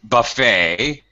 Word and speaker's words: buffet: yes yes that's right buffet silent tea nothing to do with